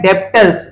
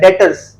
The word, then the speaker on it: debtors: डेटर्स क्या होता है, इसको देखो लिखा हुआ है डेप्टर्स, DEBTORS, बट इसको प्रोनाउंस करते हैं डेटर्स। इसमें बी साइलेंट होता है, डेटर्स।